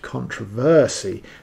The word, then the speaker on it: controversy: "Excuse me," said Rupert, "I think you'll find it's pronounced controversy, the stress being on the versy, not the trov."